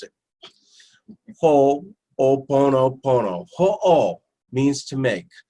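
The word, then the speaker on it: Hoʻoponopono: you leave here and you'll be able to pronounce it ho-oh Buono Buono who all means to make so if you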